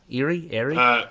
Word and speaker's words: Erie: Am I pronouncing it correct? Is it Erie? Erie?